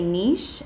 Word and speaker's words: niche: stitch niche first and I would say niche in IC AG but that doesn't rhyme with stitch there you go so